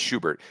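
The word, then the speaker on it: Schubart: schart no Schubert it's spelled shuart but it's pronounced Schubert noan Schubert is hot as he had four home runs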